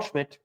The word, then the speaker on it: Schmitt: with the proper way of spelling Schmidt, the 2 T's.